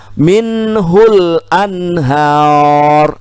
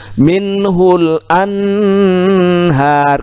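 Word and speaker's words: منه الأنهار: kelompok yang tidak dengung berarti kita bacanya minhul Anhar jangan minhul an-nahar kenapa ini tidak tidak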